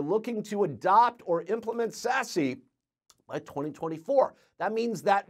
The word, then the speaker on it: SASE: exciting to say and yes we really do pronounce it sassy secure access service edge what we call sase this is the idea of taking our wan